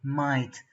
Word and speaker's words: might: studied in this video might what is that or what are the silent letters in this word mind mind they are the G n H white now let's let's